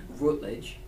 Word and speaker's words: Routledge: Is that how you pronounce it? Yeah. Routledge.